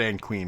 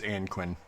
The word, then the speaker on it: Anquin: It said Anne Queen, but it's Anquin.